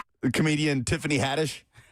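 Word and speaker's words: Haddish: The comedian Tiffany Hattish. I think Will made the joke this morning. Tiffany Hadish. Hadish. Yeah. Give him a pronunciation guy.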